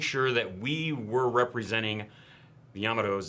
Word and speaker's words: Yamato: the research, and we still say it correctly. Yamato. Yamato. It is an Americanization to say Yamato. There's nothing wrong with it, but we're trying to say it the way that it would be pronounced in Japan.